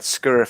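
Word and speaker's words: skyr: didn't stop running and he said he had scurrier for breakfast every day like s k y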